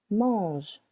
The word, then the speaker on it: manges: Tu manges. Silent S.